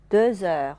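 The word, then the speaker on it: deux heures: 点钟了啊。De 后面的 x 啊，原来不发音。但是要和后面的元音连起来读啊，叫做连诵。Deux heures 发成 z 音啊。Il est 2 heures。Il est 2 heures。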